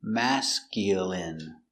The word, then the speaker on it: masculine: mascu i mascul m masculine masculine masculine stress on the first syllable mask masculine masculine masculine your dog